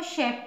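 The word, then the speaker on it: chef: इसको क पढ़ेंगे chemist C एच ई एफ सी एच के बाद ई है यानी वॉवेल फिर कंसोनेंट है एक ही है इसको शेफ पढ़ेंगे और एक और एग्जांपल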